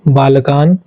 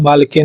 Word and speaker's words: बालकेन: बालकेन बोलते हैं। बालकेन नहीं है। मैंने बालकेन पढ़ा भी नहीं है। आप ध्यान से सुनिए कैसे पढ़ना है। बालकेन। ठीक है? न का उच्चारण पूरा होना चाहिए।